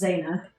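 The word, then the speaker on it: Zeina: just works exactly it's spelled z-e-i-n-a but it's pronounced zaina oh he knows that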